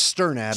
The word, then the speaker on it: Sternad: You're adding a U in between the T and the R. No, it's just stir.